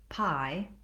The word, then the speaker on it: pi: words, and that's because pie, the Greek letter, and pie, the dessert, have the same pronunciation.